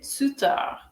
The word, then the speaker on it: tuteur: সো এই শব্দটাতে প্রথম টিটার উচ্চারণ হচ্ছে চ, আর দ্বিতীয় টিটার উচ্চারণ হচ্ছে ত। সো এটা হবে tuteur, tuteur অথবা tutrice, tutrice।